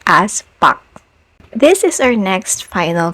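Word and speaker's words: 부엌: For example, in the word pu, which means kitchen, you don't really hear the aspiration anymore.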